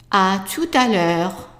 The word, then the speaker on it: à tout à l'heure: So imagine that there is no space here. A, tu, ta. And we already know this one is pronounced l'heure. So let's pronounce the whole thing. À tout à l'heure.